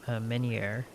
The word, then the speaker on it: meunière: Please take this hardy salmon and go make some salmon meunière. I gotta figure out how to pronounce that.